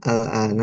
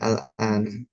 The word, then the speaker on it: الآن: Nah, tadi bacanya bukan ummuki fil baitil al-ana.